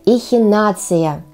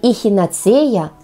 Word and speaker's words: эхинацея: такое интересное спросите вы это Эхинацея именно так следует произносить это слово не Эхинацея а эхи нация признавайтесь А вы как